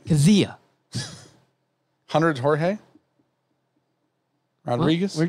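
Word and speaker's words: Kizziah: 252, Jeff Kizia. It's K-I-Z-Z-I-A-H. Okay, I would have not guessed that because you pronounced it like it had a G in it. Kizia.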